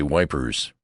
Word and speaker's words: Ypres: question about Ypres, for I pronounced the name French fashion, which put me under suspicion as a swanker. "Don't try to come it, son," he says. "Say wipers. That's what we calls it."